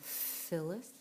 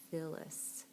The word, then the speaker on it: Phyllis: And then what's making the f sound at the beginning of Phyllis? Phyllis. If you said PH is making the f sound, then you are correct.